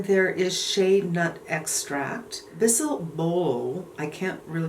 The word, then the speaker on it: bisabolol: Then there is shea nut extract, bisabolol, I can't really pronounce that. It's bisabolol, B-O-L-O, that's hard for me, which is actually a very nice ingredient.